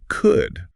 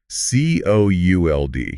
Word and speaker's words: could: It sounds exactly like good or would.